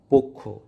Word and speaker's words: পক্ষ: আদ্য অ বা শব্দের শুরুতে অ এর পর ক্ষীয় অর্থাৎ ক যুক্ত মূর্ধন্য স অথবা জ যুক্ত ইয় থাকলে উক্ত অ সাধারণত সংবৃত বা ও এর মতো উচ্চারিত হয়।